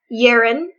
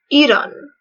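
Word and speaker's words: Yiren: wrong this whole time it's not yerin it's Eden Eden and I have to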